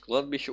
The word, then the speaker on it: кладбище: Как написано в газете ГКЧП, есть кладбище ударение на букву И.